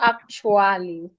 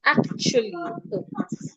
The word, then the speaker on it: actually: The sound of the letter A should not be heard. So it's not actually. It's actually act. The A sound is not heard.